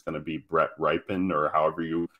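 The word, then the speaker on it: Rypien: situation I think it's going to be Brett ripen or however you pronounce his name uh yeah ripping okay thank you I think he had a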